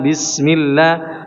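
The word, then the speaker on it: بسم الله: Tasdidnya huruf lam laf ada lafzul jalalah dijelaskan ya. Bismill mla jangan sekedar tempelkan saja. Bismillah. Bismillah. Jadi harus ada hentakan bis harus ditekan ya. Bismillahi coba.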